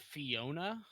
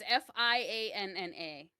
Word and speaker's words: Fianna: Is it Fiona? No, it's Fianna.